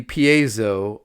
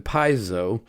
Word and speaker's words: piezo: finally figured out that the universally accepted um pronunciation seems to be Piezo uh rather than Piso, uh but your mileage may vary.